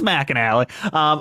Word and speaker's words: McAnally: It's spelled McAnally, just so you know. I know what it looks like. It's McAnally.